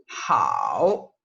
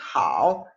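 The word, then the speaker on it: 好: Hao, hao, hao, ¿sí? Hao. Fíjense cómo se pronuncia el tercer tono.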